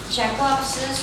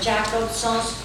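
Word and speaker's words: Jakobson: Jacobson's or Jacobson's, not Jacobson's as the Americans say, because he was a Russian linguist.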